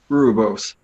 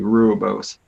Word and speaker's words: rooibos: have a good rooby-roo I try rooibos is that how you pronounce that the South African tea rule Bose but it's caffeine free